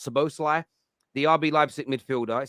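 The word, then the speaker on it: Szoboszlai: name right Dominic uh supposed to lie I think it's pronounced so Bosley the RB Leipzig midfielder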